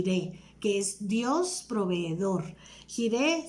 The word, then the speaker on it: Jireh: qué es dios proveedor gire se escribe jota y r h jehová gire por tanto se dice